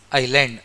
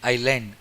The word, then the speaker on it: island: Island. Island. Silent. See here S is silent here.